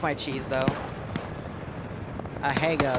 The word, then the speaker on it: Asiago: like my cheese though a hey go that's how you say it okay then i'll die